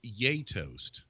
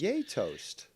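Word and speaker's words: Gjetost: actually pronounced for me it's actually pronounced yay toast so yay we're gonna have toast yato's yay toast and it is if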